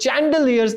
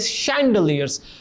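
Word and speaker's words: chandelier: we have सैलियस student इस word को चैंड यर्स नहीं प्रोनाउंस करना दिस वर्ड इज शलिस सैंडलीय हमारे घरों में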